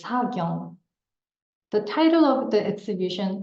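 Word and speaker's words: 사경: This is Hangul, the unique script of Korean, pronounced as Sagyong.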